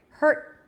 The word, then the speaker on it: hurt: sound in all positions when it's at the end it's just an abrupt stuff stop of air hurt heard let's move on